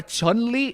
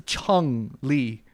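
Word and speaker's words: Chun-Li: So, it's not a Chunley, it's a Chun Lee.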